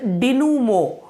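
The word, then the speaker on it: dénouement: इसका जो प्रोनाउंसिएशन होता है दैट इज डिनूमो।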